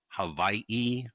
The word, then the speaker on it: Hawaii: Yeah, because then the OG Hawaiians too, like all the W's are supposed to be pronounced like V's, Yep. right? So it's supposed to be Hawaii, and so it's just Mhm.